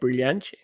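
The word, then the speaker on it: brilhante: Brilliante. Brilliant. Is that how you say it? Brilliante. Yeah, perfect.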